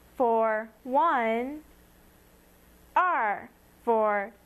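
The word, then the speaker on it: 二: long and drawn out two is R looks really similar to one but there are two horizontal lines the first one is slightly shorter and pronounce it r r for two now you have three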